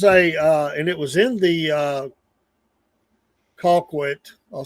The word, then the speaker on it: Colquitt: hey, there's and it was in the Colquitt.